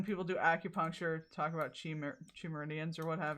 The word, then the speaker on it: chi: or what have you am I am I saying it wrong is it chai I don't really I've never heard that phrase I'm not going to lie to you sorry Chi okay it is chi okay oh I still